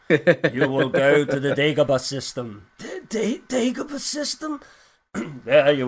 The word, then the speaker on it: Dagobah: he clearly Ben says you will go to the Dagobah system, and he goes Dagobah system. It's like, no, I didn't say it like that. I said Dagobah system. Why are you taking liberties with the pronunciation already? 5 seconds after I said it.